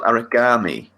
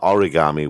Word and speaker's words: Aragami: and today we are talking about an indie game called Aragami. Aragami. Aragami. Okay, Aragami spelt with an A, not with an O and an I. Not origami, where you're It's a folding little bit paper.